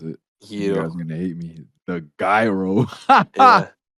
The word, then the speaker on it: gyro: I ordered before that that Greek uh gonna mispronounce it gonna hate me the gyro you just deeply offended hybrid I had a I